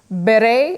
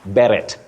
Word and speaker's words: beret: many people bety say Barrett Barrett red Barrett that t is not pronounced by the way this word is from French and the t is silent you can say ber